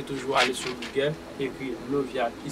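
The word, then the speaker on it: Leviah: C'est que je te demande, Levia, trop des indestructibles constructions.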